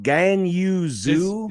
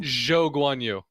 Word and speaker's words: Zhou Guanyu: How is it pronounced? Gan Yu Zhu? Zhou Guanyu.